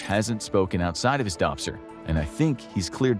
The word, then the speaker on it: DOPSR: that he spoke outside of his DOPSR ,” DOPSR being the Defense